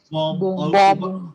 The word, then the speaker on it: bomb: बॉम्ब।